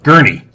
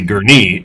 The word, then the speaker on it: Gurnee: Or as uh you fans of Cousin Eddie Eddie, it'd be Gurney. It's actually Gurnee, Illinois. Gurney, huh? That's how they say it. Yes, Gurnee, Illinois. Uh so, we were definitely say Gurney, Illinois.